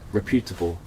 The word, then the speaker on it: reputable: Accent on the first E.